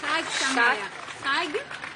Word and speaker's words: Chag Sameach: Thank you so much again, and Chag Sameach. It could be pronounced better. Chag Sameach.